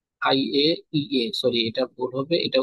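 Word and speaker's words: IAEA: আই আই এ। পারমাণবিক তদারকি, পারমাণবিক তদারকিতে থাকে হচ্ছে এই সংস্থা দ্বারা, আই আই এ। এটা আই এ ই A, sorry এটা ভুল হবে, এটা উচ্চারণ হবে আই এ ই এ।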